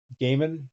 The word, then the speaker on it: Gaiman: But it's Neil Gaiman.